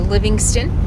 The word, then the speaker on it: Livingston: good camping welcome to livingstone montana yes i pronounced it wrong it's livingston not living stone it's so exciting to